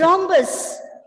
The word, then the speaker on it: rhombus: so here listen here though the letter h comes it's a consonant it comes after r but you know the letter r is actually silent because when you pronounce we say rhombus that is h goes silent and effectively we have